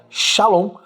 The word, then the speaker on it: shalom: Então, a pronúncia em hebraico da palavra paz é shalom, que tem o sentido de segurança, bem-estar, de uma pessoa com saúde, prosperidade e paz.